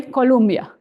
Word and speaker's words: Colombia: Adiós, río de Colombia, que tus márgenes pasamos, tus vastas fuentes miramos de aquellas olas que zumban. So the only way to make it rhyme is to say Colombia.